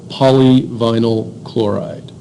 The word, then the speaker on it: polyvinyl chloride: on the toxicity of polyvinyl chloride. Those are big words. Poly, 2 syllables, vinyl, 1, chloride, 2. Yeah, that's a 5-syllable word.